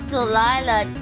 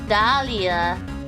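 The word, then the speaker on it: Dahlia: Not Delila Dalia.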